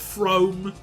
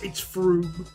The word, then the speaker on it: Frome: Like, when I was younger, I did call it Frome. Yes, I did. It's Froome.